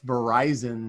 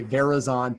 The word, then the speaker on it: Verizon: And they were really, really worried about people being able to pronounce Verizon, not say Verizon.